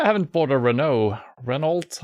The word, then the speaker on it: Renault: Renault? I don't know how you say it in English. Renault. That's how we say it.